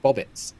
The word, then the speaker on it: Bobbits: Bobbits. It's like Robert with Bobbert. Yeah. That's how it's said.